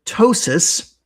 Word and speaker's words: ptosis: So, um, tossis for those who don't know is spelled P tosis, like ptosis.